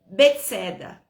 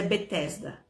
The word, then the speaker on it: Betesda: Em hebraico, esse tanque se chama Betseda ou Betesda, né? Ou Betisada. Muda um pouco assim a pronúncia, mas é Betesda.